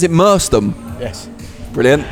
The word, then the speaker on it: Merstham: Adam, we're here at a new boxing booth gym in, do you pronounce it Merstham?